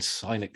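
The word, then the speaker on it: Sinek: uh video by Simon cynic cynic I never know how to say his name it's like Lindsey only um which is the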